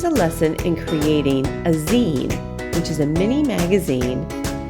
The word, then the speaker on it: zine: lesson in creating a zine which is a mini magazine made from one piece of paper zine is spelled Zi and E and pronounced zine as a magazine and again it is